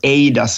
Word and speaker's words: eIDAS: What I find very flexible with the eIDAS or eIDAS, as I would pronounce it, is that it doesn't say in